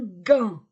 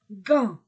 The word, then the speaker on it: gant: sac un sac un gant gant je ne prononce pas le T un gant une cravate une horloge